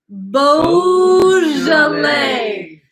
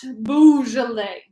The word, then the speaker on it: Beaujolais: I need everyone to say this with me Beaujolais bosal a not boozled a okay boozy people might